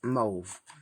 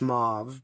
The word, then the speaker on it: mauve: I always say I I don't say mauve I say move so I guess it's everyone's individual pronunciation or you know however you learn to say that word and I learned to say it as move I know the correct way is mauve but I always have